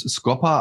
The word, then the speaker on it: Scopa: Kenne ich nur das italienische Scopa, spricht sich bei uns Scopa, also mit kurzem O.